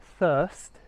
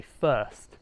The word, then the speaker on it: thirst: So rather than pronouncing it a bit more like thirst, I tend to just be a bit lazy and say first with an F. So technically it's not right, but it is fairly common.